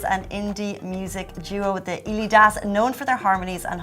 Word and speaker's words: Elidas: So I mean, you can pronounce it any way you want. We've had a lot of different pronunciations, but I think it's the Elidas, and actually it's a